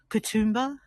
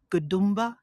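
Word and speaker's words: Katoomba: So, Katumba, Gdumba or Godmba, different pronunciations for the one in the same place, but Coutumba is the one that's easiest on the uh the anglicized way of speaking and but these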